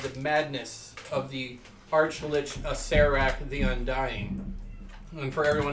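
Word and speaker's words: Acererak: And for everyone out there who doesn't know how to pronounce it, Acerak. Okay? Acerak? Acerak. The second. Acerak. Gods damn you all. The second. Acerak. Who has a silent R in their name?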